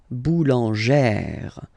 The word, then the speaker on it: boulangère: Remember, when you get this plus this accent grave, you pronounce it like really open sound. Okay, so boulanger, boulanger, and then feminine form, boulangère, boulangère. Same thing, don't insist too much on the final boulangère.